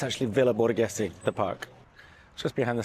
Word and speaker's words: Villa Borghese: It's called Villa Borgona? I'll write the name here. I don't know how you pronounce it. So I've just checked. It's actually Villa Borghese, the park.